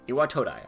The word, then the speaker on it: Iwatodai: Iwatodai, that's how you pronounce it.